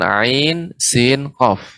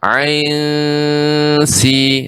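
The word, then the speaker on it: ع: Jadi pengucapan ain itu ai dulu. A dan I, ai, baru masuk ikhfa ke sin ya. Ain sin qaf.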